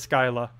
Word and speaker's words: Scylla: pronouncing anything yes it is confirmed it is Scylla to pronounce the new troop thingy the one that's